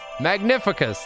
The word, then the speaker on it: Magnificus: Magnificus, that's how to say it.